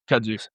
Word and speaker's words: kudzu: How do you pronounce that? Kudzu.